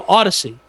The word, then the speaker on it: Audacy: which a new company, which is an old company that has rebranded itself as Audacy. Audacy. No, Audacy. Audacy. Like Odyssey, like Honda Odyssey, but it's spelled stupidly.